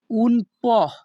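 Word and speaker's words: un po': এর ইতালিয়ান ভাষা হবে উনপহ এখানে পি ও এর উচ্চারণ হবে পহ ইতালিয়ান ভাষা উন পহ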